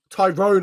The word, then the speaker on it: Tyrone: I say it's like one word.